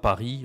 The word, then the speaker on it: Paris: Et S à la fin d'un mot euh d'un mot comme ça Paris on dit pas le S justement parce que le S il permet de dire un Parisien une parisienne.